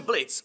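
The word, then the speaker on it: Blitzø: helva Boss Ahoj já jsem blic Oh se nevyslovuje a jsem zakladatelem imp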